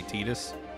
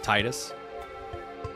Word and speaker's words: Tidus: And I think in both localizations, in Japanese and in English, they say Tidus instead of Titus.